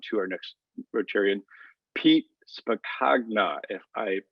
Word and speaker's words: Spacagna: rotarian or on to our next rotarian pete spacna if i pronounce that correctly why don't i start with